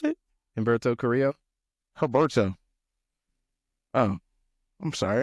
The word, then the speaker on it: Humberto: Oh, Herberto. Humberto Carrillo. How you pronounce it? Humberto Carrillo.